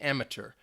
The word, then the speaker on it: amateur: me would say sure they don't pronounce that T in there and mature some I think maybe more in British English you might hear the the T amateur that is also another